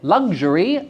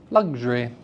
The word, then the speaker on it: luxury: So luxury, a 3-syllable word, can have its middle syllable removed. Luxury, luxury. Say it with me, luxury, luxury. So you see how you're removing the "ur" from the middle of the word?